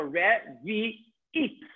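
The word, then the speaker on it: רביעית: Yes, because resh, a shva in the beginning of a word is a vowel. So revi'it. So you have three vowels here. Under the resh, under the vet, the yud is silent, and we're going to see this in the next part of the course. And the ayin with the chirik is e, and the taf is no vowel.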